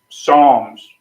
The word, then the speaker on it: Psalms: yeah I'm in Psalms Psalms but it doesn't say PS a l Ms PS oh that's Psalms the p is silent yeah no you don't